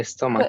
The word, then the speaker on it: stomach: My stomach. Good. Stomach. Stomach. Yes. Oh, it's stomach, like a K, stomach.